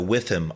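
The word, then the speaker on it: WIIFM: When coaching, I frequently suggest using the with him approach. That's spelled WITHM.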